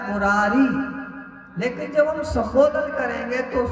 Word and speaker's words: मुरारे: इसलिए शुद्ध मंत्र लिखा है उसे उच्चारण करें, श्री कृष्ण गोविंद हरे मुरारे। मुरारी नहीं बोलना, मुरारे।